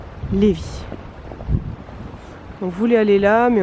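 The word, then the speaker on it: Lévis: dos au château c'est léevi ça s'écrit levvis mais ça se dit levvi et ça se dit pas Livaille Lévi on voulait aller là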